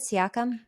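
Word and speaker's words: Siakam: um I'm gonna take Pascal siacom is that how you pronounce it ciacom you're absolutely correct I can see outcome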